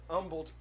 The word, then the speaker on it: Humble: of houston called humble it's spelled humble but pronounced humble right well i learned this uh from uh